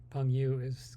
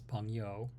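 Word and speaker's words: 朋友: So Peng Yu is not the right way of saying friends. It's Peng Yo. It's just reading it, and trying to pronounce it in an American way.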